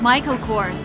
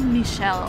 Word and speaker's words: Michael Kors: wants to have them this guy is American so his name is Michael Kors he's not Michel or whatever he's Michael of course an RSVP yes the